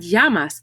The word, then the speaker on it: llamas: their name in spanish notice again the double l makes the ya sound como doesn't translate to what's doesn't translate to your and yamas doesn't translate to name